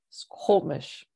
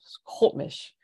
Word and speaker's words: Squamish: It goes through each syllable, but then it also has you go backwards. So mesh, hop, squop, and then you go forwards again. Squamish.